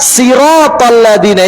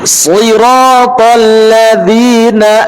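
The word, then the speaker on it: صراط الذين: Contoh ketika pengucapan sirotol, maka dia harus tebal.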